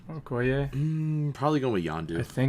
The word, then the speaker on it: Okoye: How do you pronounce her name? Okoye.